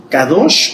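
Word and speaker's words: קדוש: palabra sagrado es kados Aunque está con q se pronuncia como se kadosh o kodesh la más usada es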